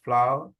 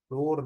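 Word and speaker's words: flower: My mother wanted both फ्लावर, फ्लावर ये लफ्ज फ्लोर नहीं है, फ्लोर मिलनी होती है फ्लावर, जिस तरह फूल की इंग्लिश होती है ना प्रोनाउंसिएशन, उसी तरह इसका प्रोनाउंसिएशन फ्लावर।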